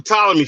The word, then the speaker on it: Ptolemy: Oh yeah, it's the Ptolemy family. Yeah, I'm sorry. The P is silent.